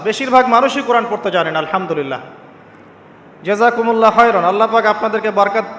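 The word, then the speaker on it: الحمد لله: আলহামদুলিল্লাহি রাব্বিল আলামিন। এইতো আপনি পড়ছেন আলহামদুলিল্লাহ। শব্দটা কি? আলহামদুলিল্লাহ। এই হা এর মাখরাজ কোথায়? হা এর মাখরাজ কোথায়? বলেন একজন কন্ঠনালীর মাঝখান থেকে এখান থেকে আপনি উচ্চারণ করছেন আলহামদুলিল্লাহি রাব্বিল আলামিন অর্থ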